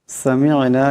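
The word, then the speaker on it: سَمِعْنَا: সামি'না, এখানে আইন সাকিন, এখানে আইন আছে, আওয়াজটা গলা থেকে আনতে হবে।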